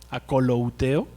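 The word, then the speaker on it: ἀκολουθέω: La palabra esta sígueme viene del griego akolouteo, así se pronuncia, akolouteo, que significa: acompáñame personalmente, camina conmigo, sé mi discípulo.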